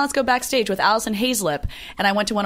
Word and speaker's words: Haislip: I determined later other play I'd have lip Haislip but get settle you I know people mispronounce my last name and it's very phonetic